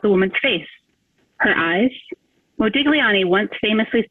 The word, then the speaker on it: Modigliani: In Italian, the artist's last name is pronounced Modigliani. Try stressing your mouth and seeing if you can say that. In English, we simplify it a bit and we say Modigliani.